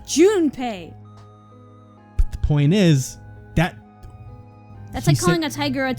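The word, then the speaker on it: Junpei: of 999 was for Jun pay to send his conscious the call him Jun P I'm sorry that's how I pronounce things it's Jun pay the point is that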